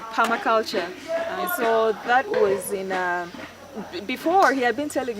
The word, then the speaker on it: permaculture: me and you know before I used to pronounce it as Tommy culture yeah but it got it right Palma culture before he had been